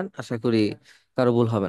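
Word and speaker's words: こ: এইটাকে এইভাবে লেখে সবাই কো দেন আমরা যখন মুখ হা করি কো আপনি উচ্চারণ করলে দেখবেন এই যে এরকম একটা বর্ণ তৈরি হবে মানে এরকম একটা ফেস তৈরি হবে তো এইটা হচ্ছে কো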